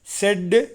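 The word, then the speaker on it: said: SAY எப்படி உச்சரிக்கணும்? செய். Past tens செட்டு, past பார்ட்டிசிபிளும் செட்டு, செய், செட்டு, செட்டு.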